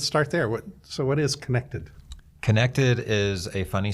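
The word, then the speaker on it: Kinected: Connected is a funny spelled word. It's spelled K-I-N-E-C-T-E-D, and it is a mashup, even though it sounds like connected.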